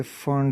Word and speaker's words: Pfund: तो ये जो सीरीज़ बना इन्फिनिटी से फिफ्थ तक, ये कहलाता है फर्न सीरीज।